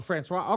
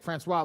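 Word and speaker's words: François: Francois, Francis, Francois. You Uh, you pronounced it correctly. oh, Francois. Okay, Francois.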